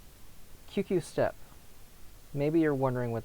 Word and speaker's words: QQ: QQ. You don't drag out the U, the oo sound.